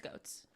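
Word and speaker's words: Goetz: her last name properly goat I think is it g o e TZ then it's goats goats and Jack Applebee and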